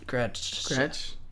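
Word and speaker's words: Gretsch: Uh, it's spelled G R E T S C H. Gretch.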